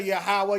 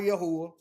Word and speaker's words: Yahweh: I say Yahweh, Yahuwah. Spelled the same in Hebrew, okay?